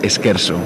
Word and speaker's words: Esquerzo: Se pronuncia Esquerzo. O sea, que lo hemos dicho casi no soy nada, lo hemos dicho bien, sí.